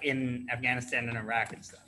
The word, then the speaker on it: Afghanistan: And remember, guys, it's pronounced Iraq, and it's pronounced Afghanistan. Not Afghanistan, Iraq. Afghanistan.